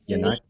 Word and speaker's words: Yannick: Now, obviously, Yannick, or how do we say it? Yannick. But a lot of people pronounce it wrong.